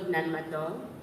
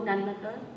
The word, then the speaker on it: Nan Madol: The Saltador were the kings of Nanmato, an extant civilization found on my island. I am a direct descendant of them. I invite everybody to Google Nanmato so you can visualize it as I read.